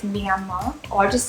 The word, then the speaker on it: Myanmar: it wrong the whole time i'm sorry it's me and ma or i'll just say yangon that's probably easier